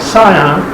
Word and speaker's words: Scion: 2006 scion yes that's how you say it scion another friend of the toyota family xb b